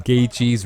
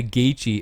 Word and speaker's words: Gaethje: Because some people say Gaethje and they totally forget about the TH in the name. Or is it just Gaethje? You're just reading it how it sounds, you know what I mean? Or how it's spelled.